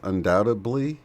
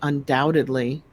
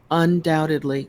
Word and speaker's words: undoubtedly: just I've noticed it more but undoubtedly being pronounced undoubtably well I've heard the English say undo bit ibly but I think that was like in some silly movie oh so I don't know I would say undoubtedly right the be silent undoubtedly yeah yeah no